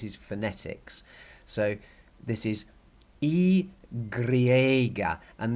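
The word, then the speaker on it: i griega: phonetics so this is e Greger and the are with the in the red italics is to get you to roll your are again but only a little bit grah gree agra agra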